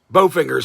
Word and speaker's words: Bolfinger: how do you pronounce it i say both fingers so you don't l silent right yeah all right you